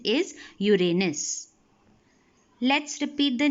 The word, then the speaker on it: Uranus: Uranus Neptune now it is please remember the pronunciation of this is Uranus and not Uranus you will hear many people pronouncing it as Uranus the correct pronunciation is Uranus let's repeat the names of all the eight